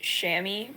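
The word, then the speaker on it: chamois: next to that yeah which is pronounced shammy by the way it's really cute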